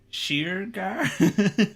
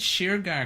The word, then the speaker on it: Shergar: oh yeah i know irish irish people who call it sugar you know it's just sugar oh man you know i thought maybe sheer girl i'm just trying to think of other ways to say it wrong the sheer gear of it so how did sheargar